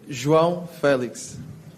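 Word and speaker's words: João Félix: Your name, we apparently pronounce it wrong. Could you tell us how to say your name? João Felix.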